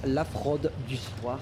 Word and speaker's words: La Fraude du Soir: A French guy, by the way, La Fraude du Soir, that's how we pronounce it in French.